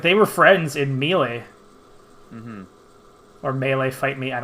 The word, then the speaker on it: Melee: they were friends in melee or melee fight me i don't care i've always pronounced it mealy and i get like